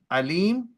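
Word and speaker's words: أليم: painful punishment see note it's Alim not Al Al with is all knowing Alim with Hamza is painful so sometimes the pronunciation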